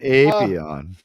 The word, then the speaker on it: Apion: Yeah, you don't want to elongate the A and then say Simeon. Appion. So I meant Apion.